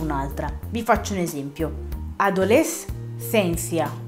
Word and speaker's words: adolescencia: Adolescencia, come nella parola adolescenza, che quindi non si leggerà adolescenza, ma si leggerà fino alla S e poi si legge la seconda altra parola come fosse un'altra. Però ovviamente tutto diciamo velocemente, altrimenti sembrano due parole staccate.